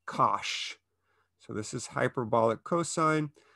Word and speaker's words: cosh: or we use say kosh so this is hyperbolic cosine but it looks like kosh and we pronounce it kosh as if it were a sh sound and its graph is